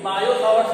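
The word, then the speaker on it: Biot–Savart: कि बायो सावर्ट्स लॉ है, यहाँ पे साइलेंट है, बायो सावर्ट्स लॉ, ठीक है।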